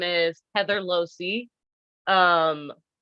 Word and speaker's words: Loase: my name is Heather losey um opposite of high C Losi that's how I pronounce my last name um because I'm a